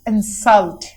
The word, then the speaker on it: insult: You can see IN is a syllable here. Stressed syllable. Stressed syllable जिस पे जोर डाला जाता है. Bold है इधर आपके पास. और noun category में 2 letters but 1 syllable. Insult here is in verb category here, and which is referring to the stressed syllable here.